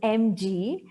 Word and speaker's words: MG: Guys, So, talking about Madhura, okay, MG is pronounced as MG.